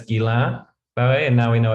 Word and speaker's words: Guillain-Barré: So we've now learned from one of our French colleagues that it's not Guillain-Barré, but it's Guillain-Barré.